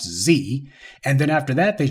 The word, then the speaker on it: Xe: they changed their name to XE, which I think they pronounce Z, and then after that they changed it again to U.S.